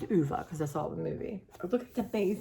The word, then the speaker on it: Ove: man called um UA um some people don't pronounce it UA but it's UA cuz that's all the movie look at amazing